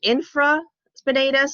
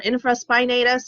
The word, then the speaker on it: infraspinatus: under the spine and that's nicely named infraspinatus or infraspinatus you'll find it kind of pronounced either or and then there are